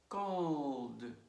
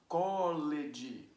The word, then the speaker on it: called: And look, call, one syllable. Called, one syllable too.